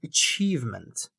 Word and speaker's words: achievement: both uh you know achievement. Achievement the estster is on the second part achievement.